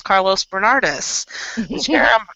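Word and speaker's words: Carlos Bernardes: Jonathan and I were walking the grounds, and I said, "Hey, there's Carlos Bernardis."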